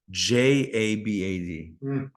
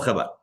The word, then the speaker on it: Chabad: It's still Chabad. No, J is H. It's pronounced H. All right, but it's still not CH.